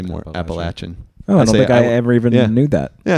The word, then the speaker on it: Appalachian: Because there's a divide. It's, more northern, you tend to say Appalachian. Oh, really? Southern, you tend to say more Appalachian.